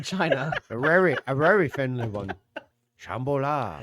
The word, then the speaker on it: Shambhala: City of Shambhalan. That's not how you pronounce that at all, probably. I'm Shambhala.